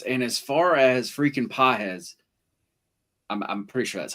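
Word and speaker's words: Pagés: And as far as freaking Pajes, I'm pretty sure that's how you say his name. You said JD. You have a beautiful accent. He had it right. He said Pajes.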